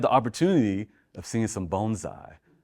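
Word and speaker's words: bonsai: Uh but he had the opportunity of seeing some bonesai, right? And we want to say bonesai. That's how you pronounce it.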